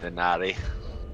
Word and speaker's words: dinar: Really bad if you were to pronounce the I as E, I think it would be better. It's dinar, maybe? Ah. Or, I mean, that's how you're supposed to do it. Denari.